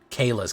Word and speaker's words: Kayla: off I'll be good Kayla's commands not Kai's command apologies for mispronouncing it a fable mirror breaker